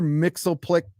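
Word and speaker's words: Mxyzptlk: Okay, so Mr. Mixelplick, that's what I've called him forever. I don't think it's the right pronunciation.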